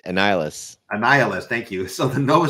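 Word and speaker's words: Annihilus: Ryder as they fight an I could never pronounce this guy's name so the bad guy Annihilation annihilist annihilist thank you so the Nova series will follow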